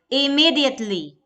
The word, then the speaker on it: immediately: Next is immediately. Me is the stress syllable for this.